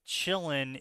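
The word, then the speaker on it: qilin: Oh, the quillin pronounced chillin is a half dragon half horror.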